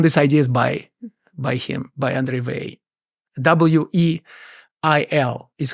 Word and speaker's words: Weyl: His name is spelled W-E-Y-L and is pronounced Weil, whereas André...